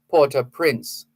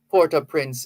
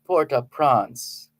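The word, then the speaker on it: Port-au-Prince: just a gentle reminder it is okay to say Porter Prince that's the anglicized pronunciation Puerto Prince is fine if you're going to speak French then you'd have to say poor press but please no dancing and prancing it's not Puerto prawns please if you're going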